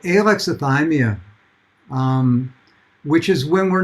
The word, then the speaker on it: alexithymia: greek word which means having no no words alexi thymia for feelings and it's pronounced alexithymia and the exothermia is the precursor